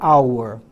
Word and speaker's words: hour: Mas o H não é pronunciado.